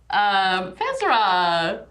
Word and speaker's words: Fezra: Fezra rhymes with Ezra.